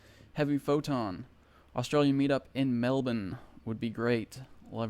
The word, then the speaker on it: Melbourne: my flight to Sydney and it's connecting through Melbourne I got to say it like that right